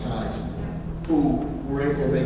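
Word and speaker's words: Kyes: Boston Police Commissioner Gross, and Chelsea Police Chief Coys. Chief Kais, I'm sorry, it's spelled, but it's pronounced Kais, who were able to make a score.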